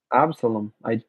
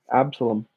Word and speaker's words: Absalom: Let's just make sure I'm pronouncing that right. I think I might have done it. Absalom. I actually got it right. Wow. Absalom.